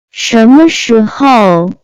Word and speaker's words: 什么时候: 什么时候？ Let's watch some useful example. 你什么时候回家？ When are you going home? Hope you learn it. Let's find out the vocabulary which we just learned. 什么时候？